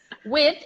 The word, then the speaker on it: width: the adjective wide and the fact that there is a D and a th complicates life a little bit so we're gonna